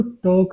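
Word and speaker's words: talk: देखो टॉक है, टाल का नहीं है, बच्चे से टाल को बोलते हैं, एल इसमें साइलेंट होता है, तो इसलिए यहाँ पे एल को बोलते हैं, टॉक बोलते हैं धीरे धीरे।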